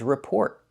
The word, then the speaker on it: report: And the second word is report. You can make the stop t report or a complete t report.